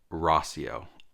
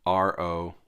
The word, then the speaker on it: Rauseo: Rauseo, Rauseo, Rauseo, but it's Rauseo. Rosseo. That's sort of how I would phonetically say it. Ross-E-O.